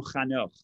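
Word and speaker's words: חנוך: In English, they pronounce it Enoch. In Hebrew, Chanoch. And he was building a city, and he called the city after the name of his son, Chanoch, Enoch.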